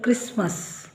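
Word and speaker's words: Christmas: butcher butcher ಹಾಗೆ ಇಲ್ಲಿ ಇಲ್ಲಿ ಕೂಡ ಸೈಲೆಂಟ್ ಇದ ಕ್ರಿಸ್ಮಸ್ ಕ್ರಿಸ್ಮಸ್ ಈ ಹಿಂದೆ ಈ ವಿಡಿಯೋ ಮಾಡಿದಾಗ ಇದರಲ್ಲಿ ನಾನು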